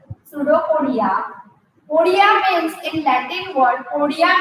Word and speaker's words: pseudopodia: many pseudopodias, and pseudopodias, the spelling of pseudopodia it starts from P. P is silent here. Pseudopodia. Podia means in Latin word, podia means legs.